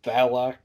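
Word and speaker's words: Valak: character like the nun which is what the valloc that's how you pronounce it but it's a demon spirit yeah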